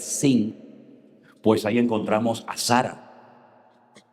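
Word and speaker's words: שׂין: una letra que es se llama la letra shin, pero que tiene doble pronunciación, porque si arriba te encuentras un punto a la derecha es shin. Y si te encuentras arriba un punto a la izquierda es sin, pues ahí encontramos a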